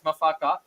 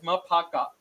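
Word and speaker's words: Maphaka: thing I've learned is the pronunciation of qu mafaka who we all called it as mafaka turns out it is maaka so it is interesting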